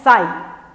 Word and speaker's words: psi: इसका मैं बता दूं आपको, ये जो सिंबल आपने लिया है ये दिया है, इसका नाम है PSI, लेकिन P साइलेंट है इसमें, उसको पढ़ते हैं साई।